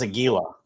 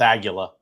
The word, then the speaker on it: Aguila: It's Aguila. Nice. It's Aguila. Aguila. I thought it was Aguila, but it's Aguila.